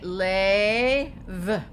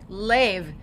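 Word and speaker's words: לב: Okay, now here we have the lamed with 3 points that are going to say A. So we're going to say lev, lev, and that means heart.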